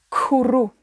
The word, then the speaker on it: cwrw: Para decir cerveza en inglés, decimos cwrw. Cwrw. Cwrw. Cwrw. Una cerveza. Cwrw. Escuchen bien la K. Es muy pronunciada en inglés. K. Cwrw.